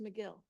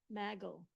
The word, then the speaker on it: McGill: Yeah, but it's pronounced McGill. Oh, what did I say? Maggle.